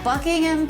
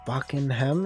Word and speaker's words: Buckingham: mean i guess so you just don't have to put the emphasis on the ham you know it's just